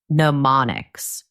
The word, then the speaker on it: mnemonics: This technique is called pneummonics. m n e m o n i cs. The m is silent.